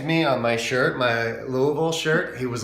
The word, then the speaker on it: Louisville: and by the way it's Louisville not Louisville for people who are